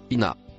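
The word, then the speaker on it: إنّ: Le premier mot en rouge se prononce ina.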